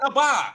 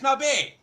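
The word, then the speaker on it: נביא: It's not Naba. It's Nabe.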